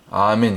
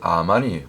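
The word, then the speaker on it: אמן: 말씀처럼 고린도서 있는 말씀처럼 원래 아멘이 히브리 원문의 발음은 아멘이 아니고 물론 아멘이 맞는데 원래 출발은 아만이 아만 원래 그 원조 아멘의 발음이 히브리어으로는 아만이 맞습니다 아만 그래서 우리가 보통 아멘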